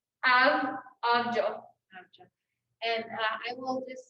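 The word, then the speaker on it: આવજો: There's another word that you guys can try, and it's goodbye, and it's pronounced abjo, like abjo.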